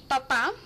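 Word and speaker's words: papá: padre that would be papa papa you have put you have to put the accent on the last day otherwise it means potato daddy would be puppy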